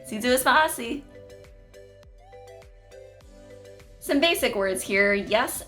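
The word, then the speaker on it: Si Yu'os Ma'åse': To say thank you in Chamorro, you would say si zuus maasi. I've mentioned it in another video of mine, but the Y in the Chamorro alphabet is pronounced like a Z sound, so it's like zuus.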